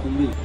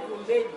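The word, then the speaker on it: Goombay: Well, in Sierra Leone, we spell kumbi G-O-O-M-B-A-Y. In Nigeria, they spell it G-U-M-B-A-Y.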